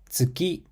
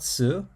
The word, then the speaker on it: つ: Tsuki, tsukue, tsukau. Moon, desk, to use. So the pronunciation for tsu is unique. It's similar to the tsu sound in cats or pizza, but smoother. It's not tsu, but tsu.